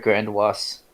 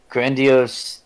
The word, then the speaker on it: grandiose: grandiose Timothy everyone is some people pronounce it one way or the other I've never heard Grande wasps but grandiose tendencies no I'm not like